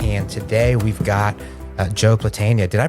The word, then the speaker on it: Platania: All right, we're back, and today we've got Joe Platania. Did I pronounce that right, actually?